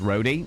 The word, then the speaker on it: Roadie: It's pronounced like Rhode Island or just Roadie.